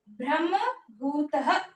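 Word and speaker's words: ब्रह्मभूतः: सबसे पहले क्या है ब्रह्म भूतः ये जो है मा और ये ब्रह्म भूतः ये विसर्ग ध्यान रखना है ब्रह्म भूतः प्रसन्न आत्मा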